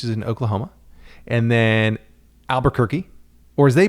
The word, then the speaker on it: Albuquerque: as they pronounce it albuquerque alba not albu or albu it's alba which i'm on the fence about i kind of like it because it shortens things a little bit just takes the pressure off it's albuquerque but i also i kind